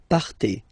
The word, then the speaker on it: partez: Okay, then for vous, classic ending for vous as well, EZ, but then you pronounce it et. Vous partez, vous partez.